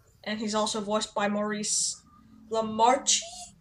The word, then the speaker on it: Maurice LaMarche: Cramdillies, and he's also voiced by Maurice Lamarche? Maurice Lamarche. Oh, okay, the E is silent.